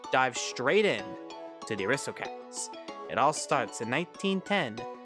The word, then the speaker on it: Aristocats: Aristocats, like aristocrats, but it's cats to the crats.